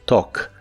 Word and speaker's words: talk: presente de inglés es talk. La A se pronuncia como una O y la L no se pronuncia.